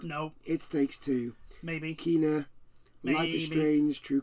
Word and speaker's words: Kena: It's Kena. Oh, is it Kena? No, that's right. Kena. That's how you pronounce it. I found out because I played the game. Yeah. So all this time we've been pronouncing the name wrong, but anyway.